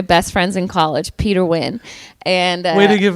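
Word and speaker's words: Nguyen: win was so funny like cuz nobody ever knows how to say win. It's like cuz it's spelled N guan not in the south like everyone in the south Ted Naguan Ted Nan.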